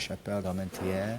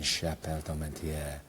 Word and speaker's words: Chapelle d'Armentières: Oh, how do you pronounce? Where's my French? Chapelle d'Armentières.